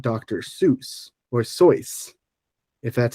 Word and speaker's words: Seuss: said was fun fact his name is actually pronounced soyce okay this this did devolve into an argument